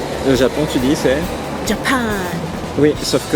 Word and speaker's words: Japan: Japon tu dis c'est Japan oui sauf que le j en allemand se prononce ye ye mais comme ya ce qui veut dire